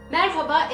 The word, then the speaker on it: merhaba: other person also responds with a member so merhaba is how you say hello in turkish after